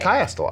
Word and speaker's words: chiastolite: Chiastolite.